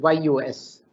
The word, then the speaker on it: jus: justice comes from the word j-u-s-j-u-s which is pronounced as you know as use use as if it is yus to all of us in the legal profession